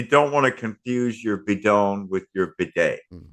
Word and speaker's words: bidon: gas jug or something, bidon, bidon, bidon, bidon, or Biden, as you would pronounce it in English, because the Mm.